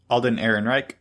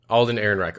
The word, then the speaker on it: Alden Ehrenreich: the guy that's playing Han how do you pronounce his name Alden Ehrenreich Alden Ehrenreich alright that he was bad at hacked him